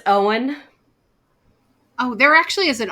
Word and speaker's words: Eoin: many times, but it's Owen. Oh, there actually is an author with that first name, and I've never known how to say it. Yeah. So the E is silent?